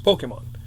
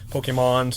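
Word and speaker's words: Pokémon: it was like, first people didn't know how to say it. You know, how do you say this? You know, Pokemon, Pokemons. You know, like people still call it I know. Pokemon. It's Pokemon. You know if they're an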